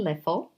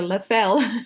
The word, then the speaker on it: Leffel: guest today is Caitlin leffel Caitlyn did I pronounce it right I'm struggling with your second name because I want to call you Lafell it was perfect all pronunciations are perfect great Caitlyn is a